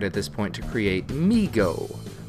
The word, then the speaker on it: MeeGo: this point to create migo every time i say that it sounds like the word we mixed with amigo migo is going to